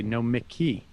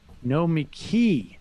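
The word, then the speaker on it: Nomiki: to have to say i cringe every time you say no mickey congratulate yourself because it's just wrong pronounce the e sound after the m sound whoever recommended that you should get uh slapped no me key not no monkey you know what this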